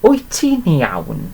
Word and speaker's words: wyt ti'n iawn: Wyt ti'n iawn? Okay, and it's literally pronounced like this.